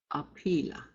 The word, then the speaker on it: apila: Apila. And as I've mentioned before, if it's an E, it's going to sound like E.